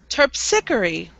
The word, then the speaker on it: Terpsichore: Terpsichore. Is it terpsichore? Yes. Terpsichore. Topsichore. Terp. Terp. Sickery. Sickery. Nice. Terp. Terp. Sickery. Sickery. Terpsichore.